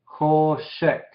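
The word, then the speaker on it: חושך: Hoshek. Otra vez el shewa silencioso al final, con la kaf final.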